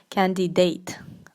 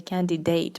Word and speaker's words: candidate: word is candidate candidate now many people pronounce this word this word incorrectly and they say candy date okay so um You probably shouldn't say candidate because or some people even say candidate that's even more Incorrect and that's basically a